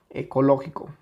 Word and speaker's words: ecológico: Okay entonces ecológico ecológico Dónde tiene la sílaba tónica ecológico claramente está aquí ecológico Entonces es una